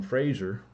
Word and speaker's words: Fraser: They got some work from Fraser, rhymes with laser.